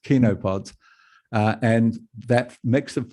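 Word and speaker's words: chenopods: grasses legumes and kinopods sounds like it's pronounced chinopods but it's actually pronounced kinopods uh and that mix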